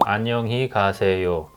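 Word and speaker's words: 안녕하세요: when somebody is leaving anonymity it's a sixth syllable annyeonghasey right so when we say it faster i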